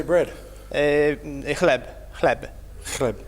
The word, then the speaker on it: chleb: Chleb.